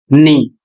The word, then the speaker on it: knee: यहां लिखा है के एन डबल ई और इसका उच्चारण होगा नी। बहुत से लोग क्या करते हैं? के का उच्चारण कर देते हैं। जबकि के अक्षर का उच्चारण नहीं करना है।